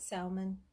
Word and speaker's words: salmon: I had salmon, and that was it. Salmon. Salmon. My husband says I pronounced the L. I'm not supposed to.